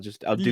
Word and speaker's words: deux: It's got to get exhausting after a while, but I've noticed with number 2 speaking, they'll say like "do" a lot, and it's spelled DEUX.